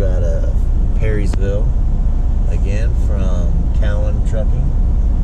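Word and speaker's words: Cowen: And now I just booked a load out of Perrysville, again from Cowan Trucking. Apparently I've been pronouncing that wrong. I was calling it Cohen. Apparently it's Cowan.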